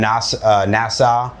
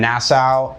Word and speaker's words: Nassau: angle, but uh there's Yeah, we're we're in NAS Nasau. Um I always suck at pronouncing that by the way. We're we're in Nassau.